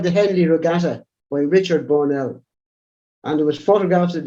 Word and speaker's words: Burnell: In Galway, it's pronounced Burnell. And in Dublin, it's called Burnell. And Tipperary as well, Burnell. Burnell. Yeah, there's probably Burnell because there's no E at the bottom of it, but it's probably of French origin.